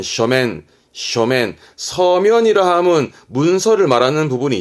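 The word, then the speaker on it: 書面: 서면 발음은 쇼맨.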